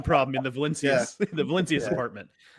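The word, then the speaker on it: Valincius: Is the last name pronounced Valencius or Valinkis? Valencius.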